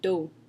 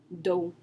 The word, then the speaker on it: dos: So some examples are, for example, the word dos, which means back. Dos. The S is silent, so it's just pronounced with the D and the O. Dos.